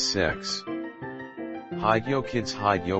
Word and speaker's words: CEX: Unprotected CEX at a used electronics/games retailer whose name is pronounced as sex.